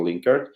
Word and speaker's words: Linkerd: Ya, ok, para los que querían un poquito en español la respuesta, Sergey, es Link ERD, right? Linkerd. Linkerd, yes.